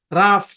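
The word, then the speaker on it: rough: খেয়াল করেন যেমন দেখেন আর ও ইউ এইচ উচ্চারণ কি রাফ রাফ মানে কি রাফ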